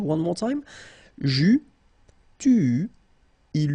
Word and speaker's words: eus: Okay, so j'eus, final S not pronounced, tu eus, final S not pronounced, il eut, final T not pronounced, elle eut.